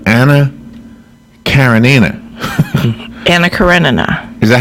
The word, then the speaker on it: Karenina: Karenina.